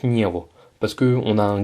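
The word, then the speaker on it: него: prononciation sur le niveau ça s'écrit niego mais ça se prononce niveau parce que on a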